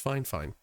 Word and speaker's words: FiFine: fine microphone that is spelled f i f i n e but pronounced fine fine so shout out uh